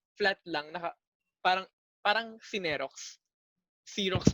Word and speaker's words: Xerox: Xerox pa nga dapat yung tamang bigkas dun eh. Xerox. Kasi galing siya from a company.